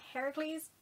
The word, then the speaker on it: Heracles: differences dyslexia shut up um that version is pronounced heracles as well so technically like wrong name wrong